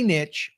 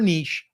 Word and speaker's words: niche: Number one, focus on a niche or niche or nicho, however you want to say it. I say niche because it rhymes with riches are in the niches.